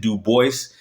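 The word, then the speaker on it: Du Bois: ] but there is allegedly like a letter that he wrote saying that he prefers people to pronounce it do Boyce so I don't think it's wrong to pronounce it do Boyce because he said it and then also it's not wrong to pronounce it du because that is the original anunciation or pronunciation however you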